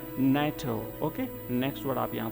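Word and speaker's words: NATO: Organisation, तो ये जो नाटो है ये एक एब्रीविएशन है और इससे पहले जो है आर्टिकल का प्रयोग नहीं होगा और इसका प्रोनाउंसिएशन रहेगा नाटो।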